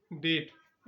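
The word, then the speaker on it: debt: डेप्ट। यहां पर बी जो है बी यहां पर साइलेंट है।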